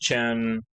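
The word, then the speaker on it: Qin: Shen, Chen, that's how you pronounce it.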